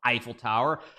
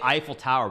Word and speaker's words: Eiffel Tower: say at the I we say Eiffel Tower but that's not how you pronounce it of course uh Europeans know how to pronounce it but anyway yeah the eval Tower I like the eval